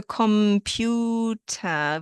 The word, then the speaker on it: Computer: So computer, we pronounce it the way it sounds in English, just without the heavy R at the end.